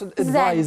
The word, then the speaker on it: advise: And it's pronounced advise. Z, advise okay.